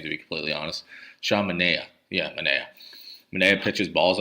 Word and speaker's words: Sean Manaea: Sean Manaea.